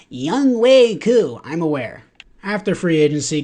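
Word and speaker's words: Younghoe: are like oh Vic it's actually not pronounced y hu it's young way I'm aware after free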